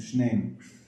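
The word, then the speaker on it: שנים: It joins up with the next word, so it changes from Shnaim to Shneim in this context.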